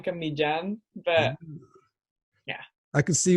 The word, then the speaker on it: Millan: everyone calls you malambo what's the actual Spanish pronunciation sound like it's pretty off you know but I just gave up you actually say it Blan mijan but yeah I can